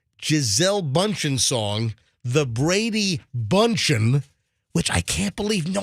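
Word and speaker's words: Bündchen: Now, if you missed the Tom Brady Giselle Bundchen song, the Brady Bunchen, which I can't believe no one had ever done that.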